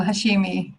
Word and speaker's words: Hashemi: it's miss allah al-hashim did i say it right it's allah allah oh hashemi yes that is much more beautiful than what i had said no that's fine the